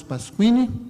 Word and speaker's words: Pasquini: Ele me disse hoje, na hora do almoço, que a pronúncia correta do nome dele é esse, Pasquini. Só que nós abolimos os sinais maçoréticos do português, né? O trema foi embora, né? Mas é Pasquini.